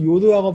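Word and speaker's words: יוד: 자리에 있기도 하는데 그런 요드하고 바브도 함부로 이렇게 뭐 고치거나 바꿀 수 없다. 이런 의미예요. 그럼 다음 시간에 설명해 드리겠습니다. 요드. 자, 요드. Y자로 이거 자음입니다. 이거. 자음이에요. Y가 자음입니다. 여 발음이에요.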